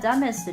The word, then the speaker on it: dumbest: gorillas who need to shave twice a day.这里说像 dumbest 这个 b 是不发音的，所以是 dumb 不是 dumb。dumbest 也不是 dumbest hit their